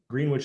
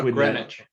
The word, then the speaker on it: Greenwich: as well as senior positions as Associate General, Greenwich Associates, or Greenwich is probably how you say it, Associates. How about Greenwich?